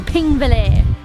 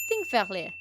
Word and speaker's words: Þingvellir: It's day 2 of the adventures, and we have come to Þingvellir. That's one I can pronounce. Wrong. It's actually pronounced more like Þingvellir.